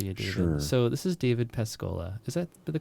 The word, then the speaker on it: David Pascolla: an introduction for you today so this is david pescola is that the correct pronunciation got it michael okay right on right